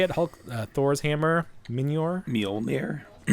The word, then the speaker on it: Mjolnir: Mjolnir. Mjolnir.